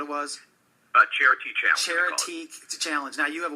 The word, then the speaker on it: Charitee: Charity challenge.